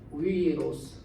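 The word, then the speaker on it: θησαυρός: 근데 이거 보면 이거 윕실론이라 이렇게 돼가지고 데사위루스 이 정확한 발음이 이제 쉽습니다.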